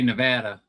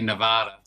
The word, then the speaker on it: Nevada: People from Nevada say Nevada. People not from Nevada say Nevada.